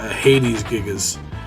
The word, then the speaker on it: Hades Gigas: It's probably, you know, someone else would probably say Hades Gigas. But just the way it's spelled, and just the way that me and another one of my friends used to talk one time, talk about stuff, is that's how we used to pronounce it or whatever.